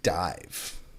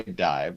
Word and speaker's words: DIIV: It's by, do you just say DIIV? Is that how you pronounce this band name, Brandon? I actually think that it's DIIV. Okay, we'll say DIIV. So the release is called Sometime Human and Geist.